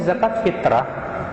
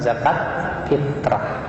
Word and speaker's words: zakat fitr: yang benar pengucapannya zakat fitr bukan zakat fitrah. Sebuah kesalahan kaum muslimin di Indonesia mereka menyangka kata fitr itu artinya fitrah.